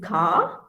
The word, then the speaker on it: Ka: more about it later so k is ca um yeah you know it's not car it's car okay just c a a you can write l